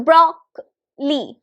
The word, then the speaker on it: broccoli: This particular syllable is known as the schwa sound. This is A sound. So this is broccoli. Broccoli. Where is the stress? Broccoli. On the first one.